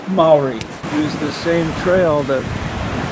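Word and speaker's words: Māori: Apparently the ancient Maori No, David, it's pronounced Maori.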